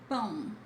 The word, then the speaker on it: pão: Fifth, pão. Pão. Not pau, please.